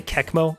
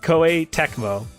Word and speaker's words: Koei Tecmo: Did I just say Kekmo? Oh my god, my brain is decrepit. Tecmo. Koei Tecmo is how you say their name.